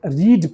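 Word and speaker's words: read: रीड रीड और रीड देखने में तो तीनों का सेम स्पेलिंग है। लेकिन जब ये वी1 रहेगा तो इसको रीड पढ़ेंगे। लेकिन जैसे यह वी2 हो जाएगा पास्ट टेंस में इसका इस्तेमाल होगा तो उसको बोलेंगे रेड तभी पता चलेगा कि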